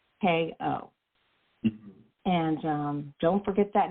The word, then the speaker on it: Cosko: Cosko. Okay, but it's not spelled like the very famous Costco. It is Cosko.